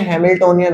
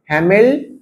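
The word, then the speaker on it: Hamiltonian: इसको बोलते हैं हैमिल्टोनियन ऑपरेटर। हैमिल्टन नहीं है, हैमिल्टोनियन ऑपरेटर।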